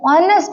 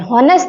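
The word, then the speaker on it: honest: लेकिन हम जब प्रोनाउंस करते हैं तब हम ऑनेस्ट बोलते हैं, हॉनेस्ट नहीं बोलते।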